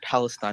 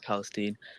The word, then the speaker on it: Palestine: we yeah number one it's pronounced Palestine not Palestine and number two in